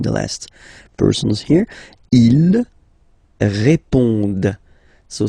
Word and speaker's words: répondent: Ils répondent. So same thing here, classic ending, ENT, but then you don't pronounce it. Okay? Répondent. Répondent.